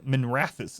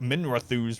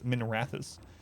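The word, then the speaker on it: Minrathous: can notify min uh minerathis is how it's supposed to be it's supposed to be pronounced i always pronounce it minerathus for some reason but it's minerathis we hope they enjoy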